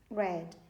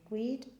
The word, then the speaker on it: read: Past tense of read, read. ¿Se acuerdan que yo les expliqué que se escriben los dos iguales, tanto el presente como el pasado, pero se pronuncian diferente? Read, read.